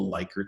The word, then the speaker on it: Likert: They're all based on something called the Likert scale or Likert scale, depending on your pronunciation.